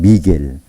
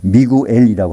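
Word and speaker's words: Miguel: 그리고 이제 스페인어식으로 하면 미겔. 어떤 사람들은 그걸 발음을 미구엘이라고 하는데 그건 묵음이 되는 거거든요. 미겔이라 맞습니다.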